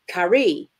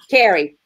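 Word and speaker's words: Carey: To whoever to read this, good luck pronouncing my name. Carrie, is that not right? C-A-R-E-Y. Carrie. Yay. See? Carrie.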